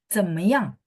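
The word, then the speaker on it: 怎么样: Nah, belakangnya jangan naik ya. Jadi belakangnya 怎么样?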